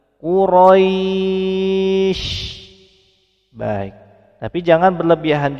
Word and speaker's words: Quraisy: Quraisy. Kilauan huruf di akhir menjadi sukun, sehingga memenuhi sifat tafashi-nya. Penyebaran udara di sekitar mulut kita. Quraisy. Bagus. Namun jangan berlebihan dan jangan terlalu lama. Quraisy.